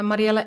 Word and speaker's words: Mariëlle: NL right yes and uh what is your uh your Instagram oh so I one is uh Mariela s yeah that's how you pronounce my name in Dutch uh my first name